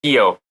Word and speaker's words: Kehoe: front of me, but it's like an H but like pronounced yo, so Kehoe.